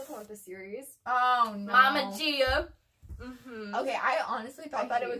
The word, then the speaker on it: Gaia: We didn't introduce Gaia, however Gia. You pronounce her name. Gia. She is the main antagonist of the Heroes of Olympus series.